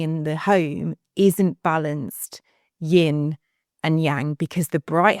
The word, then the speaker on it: Yin: Yin is Yin rhymes with dim, and that's how I remember like that side of it.